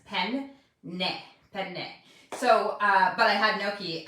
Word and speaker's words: penne: And then they are the ones who taught me how to pronounce penne properly, because there's two N's, penne.